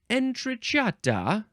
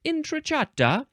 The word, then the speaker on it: entrata: of the Italian word entrata I think that's probably how you would say it inata um before that word